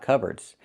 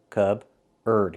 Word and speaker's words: cupboard: It looks like cupboard, but it's not pronounced that way. It's pronounced cupboard. So, the P is silent. C. Cubard. Use the sound like burger. Cupboard.